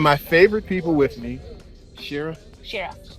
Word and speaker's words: Shira: favorite people with me, Shira. Shira. Shara. She pronounces the I differently than I do, but she's Canadian, and I'm not.